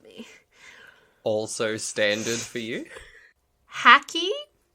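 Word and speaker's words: Hakki: also standard for you haki or haki it's h a double k i it's turkish oh so i go like haki haki i'd say hockey yeah haki it also had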